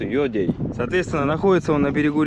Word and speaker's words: Ёдэй: Поселок по-русски говорится Едей. Да, а по-якутски пишется Йодей.